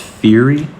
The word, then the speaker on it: fiery: What is F-I-E-R-Y pronounces? Wouldn't that be? Fiery. Okay, I'm wrong.